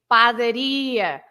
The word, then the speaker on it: padaria: Everything that finishes in IA, like you say, padaria, pastelaria. Of course, I know that now. I know it now. Now you say it like that. Every ear is at the end.